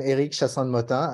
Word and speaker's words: Eric Chassande-Mottin: So yes, you pronounce it right, Apatim. I'm Eric Chassande-Mottin.